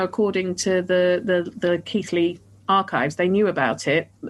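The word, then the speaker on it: Keighley: looking for this um we're call we're saying keithly now I got told off by Sarah for calling it key um because it's spelled key k e i g h l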